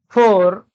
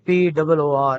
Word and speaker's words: poor: Poor, we very frequently mispronounce this word. I do not know about the other varieties of English, but in British English, this word P-O-O-R is pronounced as poor, not poor.